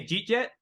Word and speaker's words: jeet jet: I'll be like, hey, jeet jet. Jeet jet. It's like two words with a J starting both of them.